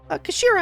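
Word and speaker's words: 頭: end of the hilt it's written as head in Japanese but pronounce is Kashira I believe Kira Mr isogi's words mean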